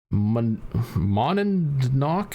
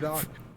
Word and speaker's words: Monadnock: This past Saturday I went to Monadnock Speedway in Winchester, New Hampshire."